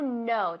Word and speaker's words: know: Silenciosa, pues no sabía. Silenciosa. To know decimos. Que no, no. To know. To know. Como yes, no. To know. Es igual, ¿vale?